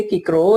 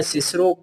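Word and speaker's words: Cicero: तो जो नई प्रोनाउंसिएशन लेकर आया है वो रॉल्स्टन, वो कहता है सिसरो को हम सा प्रोनाउंसिएशन, बिगिनिंग साउंड सा नहीं देंगे, बल्कि हम इसे का साउंड देंगे। सिसरो नहीं पढ़ेंगे बल्कि हम इसे किक्रो पढ़ेंगे।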